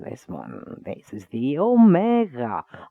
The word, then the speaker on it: omega: This is the omega. I know some people call it omega, but it's not omega. It's omega.